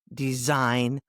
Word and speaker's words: design: G is silent before N. Sign, design, foreign.